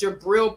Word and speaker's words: Gibriel: G is G-I, Gibriel. It's Gibriel Bah.